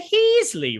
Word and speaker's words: Heasley: Jonathan Heasley rhymes with Ron Weasley.